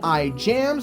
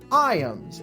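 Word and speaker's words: Ijams: Yes, it is spelled I Jams, which is how I've been pronouncing it in my head essentially this entire time. But no, it is actually called I ams and it is based on a nature center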